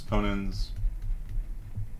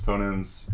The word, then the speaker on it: ponens: One is called modus ponens. Ponens. And modus Tollens, which I've heard some people pronounce Toyens.